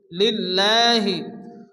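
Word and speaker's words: لله: আলহামদু, আলহামদু লিল্লাহি। আল্লাহ শব্দ শুরুতে যদি জের আসে তাহলে আল্লাহর লামকে বারিক অর্থাৎ লা উচ্চারণ করে পড়তে হয়। এখানে লিল্লাহ হবে, লামের উপরে খারাজ জবর এগানি পরিমাণ টান দিয়ে পড়তে হবে।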